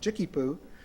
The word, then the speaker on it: JICCPO: And then it became JICCPO, which was commonly pronounced JICKY-POO.